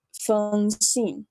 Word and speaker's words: Feng Xin: So I would suggest just think of it like a U and just say Feng. So this would be Feng Xin.